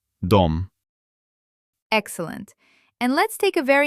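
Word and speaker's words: дом: And now a word we already know, but now we'll pronounce it with the correct letter. D. Dom. Dom.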